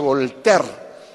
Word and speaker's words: Voltaire: habrán leído se escribe bolt aire pero se pronuncia a voltaire quien fue voltea fue un escritor fue un